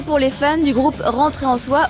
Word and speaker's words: Rentrer en Soi: Mauvaise nouvelle pour les fans du groupe Rentrer en Soi ou Lentoru Ansoi pour la prononciation à la japonaise.